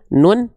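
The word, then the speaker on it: ن: Bunyi konsonan dari huruf nun apa? Bunyi konsonan dari huruf nun adalah n. Ya, betul enggak? Bunyi konsonan dari huruf nun adalah n. Ya, en ya. Jelas ya? En en. Oke, lanjut.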